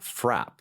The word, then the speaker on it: frappe: And then just the other day in I Want a Unicorn Frap. Correct, yes. Spelled frappe to some, but pronounced frap in this production.